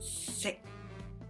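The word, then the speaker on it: 食: Just sick in a mid-low tone, sick. And I eat is ngo sick, ngo sick. Ngo, rising tone, sick, mid-low tone.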